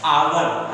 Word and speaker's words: hour: क्यों लग रहा है, क्योंकि इसका प्रोनाउंसिएशन, इसका उच्चारण स्वर की तरह है। आवर, हम क्या पढ़ते हैं, आवर, आ रहा है, और आ हिंदी स्वर